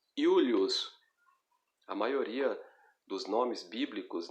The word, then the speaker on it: Iulius: A letra J, ela é pronunciada como I. Então, ao invés de você dizer Július, você vai dizer Iulius.